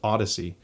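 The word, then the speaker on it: Audeze: It's Audez, but it's pronounced Odyssey.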